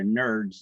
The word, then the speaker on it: NRDS: an nrds number or I call it a nerds number when you pronounce it nrds it stands for National